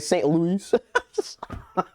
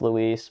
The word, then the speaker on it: St. Louis: And it was like St. Louis.